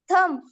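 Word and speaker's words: thumb: एच यू एम बी थंब अंगठा एम बी Tomé T ओ एम बी Tomé थगडे थडगे डब्ल्यू ओ एम बी गर्भाशय या सर्व शब्दांमध्ये बी हे लेटर सायलेंट लेटर आहे गुड नेक्स्ट सर्वांनी आता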